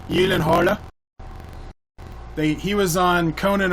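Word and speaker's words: Gyllenhaal: the movie Life with Jake Gillen hall or how it's really pronounced Gillen Halla they he was on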